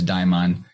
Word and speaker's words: daimon: like level for example in greek deimos which is spelled slightly differently but sounds quite similar to daimon deimos actually means dread